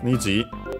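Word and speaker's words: 虹: niji the color of niji niji uh unacented means rainbow color of the rainbow.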